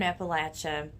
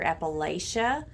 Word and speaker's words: Appalachia: The 1960s were the first times that people started to hear Appa-lay-cha as a pronunciation of Appalachia, which is very controversial around here, by the way. Not so much in the northern region, right? Because it's common to hear Appalachia there, but in central and